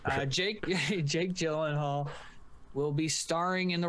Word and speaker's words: Gyllenhaal: for swayze dalton roadhouse is being rebooted jake yilian hall uh as he's as he says it's pronounced jake jake gyllenhaal will be starring in the role as a